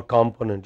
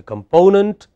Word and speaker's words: component: acceptable pronunciation of English, so that you do not say competence or component, you say component but competence, okay.